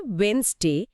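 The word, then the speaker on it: Wednesday: সময়ের সাথে সাথে উচ্চারণের সুবিধার জন্য মাঝখানের ডি শব্দটা হারিয়ে গেছে, কিন্তু বানানে রয়ে গেছে।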